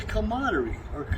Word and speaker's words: camaraderie: And part of that, having those beers, is something guys do, gals do, but it's a camaraderie. I never could pronounce that word.